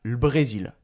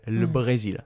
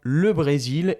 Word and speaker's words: le Brésil: Hier, le Brésil a perdu 3-0 contre l'Argentine, je sais pas, en football, au hasard. Voilà, on ne va pas prononcer le, on va prononcer juste le L, le Brésil.